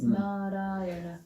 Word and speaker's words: Narayana: It's an expression in 5 syllables of the call of the human heart. 4 syllables. Narayana.